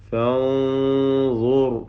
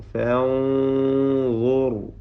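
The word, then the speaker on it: فانظر: ഫൻദുർ ഫൻദുർ റായിനും തഫ്ഖീം.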